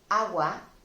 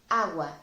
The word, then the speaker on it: agua: ill I'll explain this water which is agua it's a feminine noun it ends in a and it begins with a sound as well agua an ace in a straight syllable that means that if